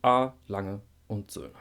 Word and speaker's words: A. Lange und Söhne: And the correct form is A. Lange und Söhne. A. Lange und Söhne. The symbol, of course, in English is and, and in German it's und.